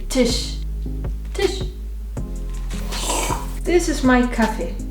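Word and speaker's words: Tisch: kin now here is the tush which means table say it like the tissue but without the u Tish Tish this is my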